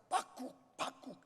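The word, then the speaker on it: בקבוק: 오지병이라고 하는 병은 밑에는 동그란데 병 모가지가 가늘어 가지고 거기에 손잡이가 달려서 이 원어에는 뭐라고 발음하냐면 빡국 이거예요.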